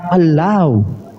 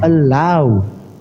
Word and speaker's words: Allah: Udah justru itu kau ucapkan Allah. Jangan Allah jangan Allah. Orang Indonesia yang sesuai tulisan lah. Iya. Justru itu di dalam bahasa Indonesia pengucapannya allow bukan Allah, bukan Allah.